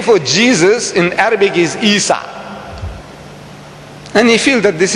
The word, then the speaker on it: Isa: Esau, if that is his name, and you are taking exception to Isa, a pronunciation in Arabic of that Hebrew name Esau, Isa, where do you get Jesus from now?